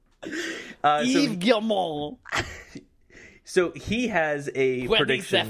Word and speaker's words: Guillemot: Nasal. Mall. Guillemot. We are so tolerant of other cultures on this podcast. I'm just telling you how to correctly pronounce his name. Yves Guillemot.